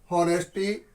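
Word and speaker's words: honesty: option में देखि हमारा नेस्टी हम इसको एच को साइलेंट में रखते हैं नेस्टी इज द बेस्ट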